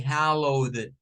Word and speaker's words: hallowed: For this word, it's going to be like hallowed, the D at the ending.